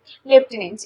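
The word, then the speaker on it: lieutenant: the correct spelling লেফটেনেন্ট এটা শুনেই ফাস্টে কি মনে হবে লেফট স্পেলিং এল ইএফটি তো অবশ্যই এল ইএফটি হবে কিন্তু না লেফটেনেন্ট কমান্ডার আমরা যেটা বলি সেটা এল ই এফ টি হবে না এর অপশনটা হচ্ছে এল আই ই ইউ টি ই এন এ এন টি লেফটেনেন্ট লেফটেনেন্টের হচ্ছে এল আই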